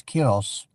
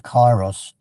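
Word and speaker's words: καιρός: So that the Greeks have a word, I think it's pronounced as kairos. I think in English a lot of would say it's kairos, which is timing.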